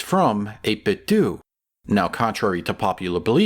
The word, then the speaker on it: 8BitDo: That's how you pronounce it, 8BitDo. I checked.